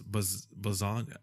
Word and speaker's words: Bazagna: No, is pronounced like lasagna. So it's Bazagna.